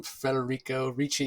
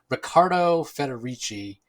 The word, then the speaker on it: Ricardo Federici: yeah we we yeah we kind of butchered that i think we're calling him federico richie yes it's rick yeah ricardo federici um yeah anyway he